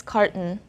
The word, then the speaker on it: carton: you to notice that we don't sound the letter t here instead of saying carton carton we say carton carton the letter t here is a silent t and the o here is a schwa so it's car carton this morning i bought a